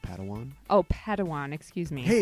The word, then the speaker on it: Padawan: reunion master yoda assigned a pad one to this bold jedi that's pronounced padawan oh padawan excuse me